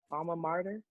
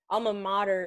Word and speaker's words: alma mater: dies that's martier martyr alma mater is like there's no r before modern shout out to the